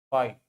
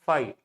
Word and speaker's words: phi: This is pronounced as phi. PFI. Phi.